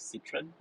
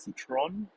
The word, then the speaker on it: Citroën: But in most part of Europe, like for example in UK and stuff like that, it's pronounced as Citroen. And I think locally people pronounce it as Citron.